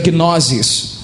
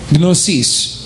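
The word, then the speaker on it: γνῶσις: Alguns preferem dizer gnosis, mas a pronúncia é apropriada gnosis.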